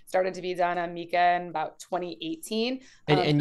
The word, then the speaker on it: MiCA: and you guys say Mika not Micah excuse me I don't know maybe Patty will correct me but what is the right pronunciation give it to us I've always I've always said Nika Mika all right I also say Mika because it's markets in crypto assets ah consensus we're already